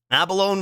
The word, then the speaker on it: abalone: microwave door wow true Abalone rhymes with pepperoni Abalone Abalone abalone Abalone